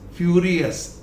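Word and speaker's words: furious: Next फ्यूरियस, फ्यूरियस, अस.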